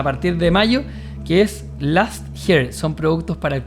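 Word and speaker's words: Lust: de mayo, que es last hair, son productos para el cabello. Last se dice con a, pero se escribe con u. L U S t.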